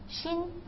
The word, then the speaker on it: 心: And the lower part is pronounced as 心.